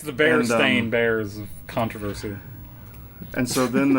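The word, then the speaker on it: Berenstain: bears, which is that everyone remembers it as bear, but but it's spelled bear stain and it always has and it has for all of history, but nobody remembers it as bear stain.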